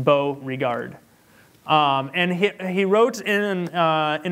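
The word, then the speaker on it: Beauregard: Mario burrow guard if you want to write this down at his last name is spelled B EA u re GA Rd just bow regard and he wrote in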